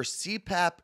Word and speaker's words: CPAP: small travel cpap right cpap is how you say it yeah i mean i